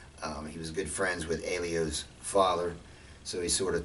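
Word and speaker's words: Helio: Dixon is Rickson and he's pretty complicated but Elio Gracie which is an h h e l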